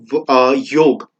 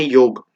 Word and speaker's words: योग: में प्रोनाउंसिएशन करें तो संस्कृत में एक्चुअल प्रोनाउंसिएशन होती है वर्ड की योग। ओके, तो संस्कृत में अगर हमें योगा वर्ड बोलना है तो हम योगा नहीं बोलते, हम बोलते हैं योग।